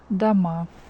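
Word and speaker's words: дома: like this the plural form of Dom is dama d ma and the a here is stressed or is not stressed so we pronounce it like the ma d ma one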